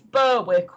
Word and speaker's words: Berwick: At least down in Kent we've got proper names that everybody can pronounce. Because this one, a lot of people think that it's Berwick or No, it's Berwick.